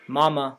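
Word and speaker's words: мама: cussing much means mother mama also means mother in checkmate the m and t are non-partialized in mother the m is non-parallelized and the t is palatalized in mama both m's are non-partialized mamma in miyasa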